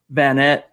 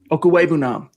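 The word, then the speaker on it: Okwuegbunam: day, those tight ends that they did add, Van Nett, I butchered it. Okuwebunam.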